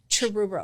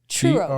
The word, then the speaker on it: Truro: a horrible name that's a you can't even pronounce it Truro churo churo like a churo no it's TR r